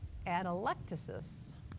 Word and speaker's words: atelectasis: A lung collapse, the emphasis is on the E. Anybody want to try to pronounce that? Very good. Atelectasis.